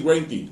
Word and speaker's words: Greinke: Se le pronuncia así, Greinke. Eso es así.